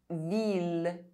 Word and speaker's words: ville: I double L is only pronounced E if preceded by a consonant and followed by a vowel, except in ville, mille, tranquille, lille.